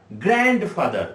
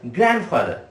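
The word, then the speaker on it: grandfather: অনেকে এটা উচ্চারণ করে থাকি আমরা গ্র্যান্ডফাদার, আমরা তাই তো বলি। কিন্তু একটা জিনিস মনে রাখবে, আজ থেকে তোমরা এই ডি এর উচ্চারণ এখানে কিন্তু হবে না। ডি এর উচ্চারণ এখানে পুরোপুরি হবে সাইলেন্ট।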